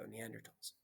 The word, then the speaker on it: Neanderthal: a funny word because the th is pronounced like a t usually here i go neanderthals first people on earth